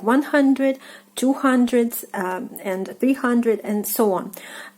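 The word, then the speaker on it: двести: 200. 200. So the stress is on ye.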